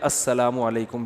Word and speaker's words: السلام علیکم: علیکم اور صلی اللہ علیہ وسلم کا صحیح تلفظ بتا دیں. السلام علیکم کا ہے السلام علیکم, جو آج کل لوگوں نے ساشے پیش کر رہے ہیں سلام, السلام علیکم, ایسے سلام ہو رہا ہے السلام علیکم.